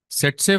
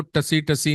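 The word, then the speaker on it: tsetse: सेट्से फ्लाई, इसको बेटा टीएससी लिखते हैं, पर इसको टसी टसी नहीं बोलना, इसको बोलते हैं एसईटीएससी। पहला टी इज साइलेंट।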